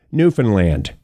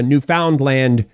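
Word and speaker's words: Newfoundland: to our International Friends that is how most of us pronounce it newfinland if you want to go a new found land you can but that usually denotes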